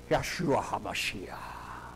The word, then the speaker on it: Yeshua: won't hear you unless you say yeshua and you got to say it like they do and none of them can you know you got to say it like you got something caught in your throat don't they dying well